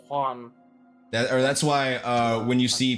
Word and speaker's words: Juan: Yeah, because they don't do J's in Spanish really, or their J's sound like H's. The way they pronounce it. That's why it's Juan.